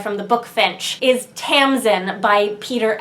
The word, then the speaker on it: Tamsin: the book Finch is Tamsin by Peter s beagle which is spelled differently from the first name of this author but pronounced the same anyways I think this